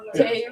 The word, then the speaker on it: Tayru: Tayru. Mr. Tayru. I'm like, clap it out. It's 2 syllables. Tayru. Tayru. Not Tayru. Ooh. Just Tayru. Tayru.